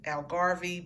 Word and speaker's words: Algarve: I want to say they're pronounced Algarve, but what I'll do is I'll just leave the link.